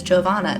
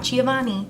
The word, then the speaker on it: Giovanna: case you were curious, my name is Giovanna. That is how you say it, not Giovanni.